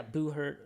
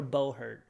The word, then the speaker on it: Buhurt: Didn't Dan go to is it Boo Hurt? Is that how you say it? Yeah, Boo Hurt. How do you spell it? Yeah, BUHURT. Jamie, could you pull that up? Boo Hurt. Yeah, Spell it again, sorry, please. BUHURT or Bohurt. That's one. That's another way to pronounce it. Bo Hurt. Yeah, it kind of sounds like butt hurt, but Yeah.